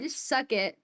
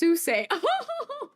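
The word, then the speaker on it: Suchet: David sucket pronounced susay. Oh. Oh my bad. My bad. I'm sorry. I'm sorry. Mr. David. Mr. David. Susay. Oh, sorry. I pronounced it very Americanly, didn't I?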